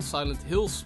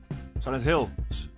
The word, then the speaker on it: Silent Hill: No idea what it was and how it felt like, but Silent Hills was announced. Oh, you said it wrong. Silent Hill. Oh, yeah. Yeah. They added an S.